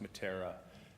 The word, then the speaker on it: Meteora: It's pronounced Matara.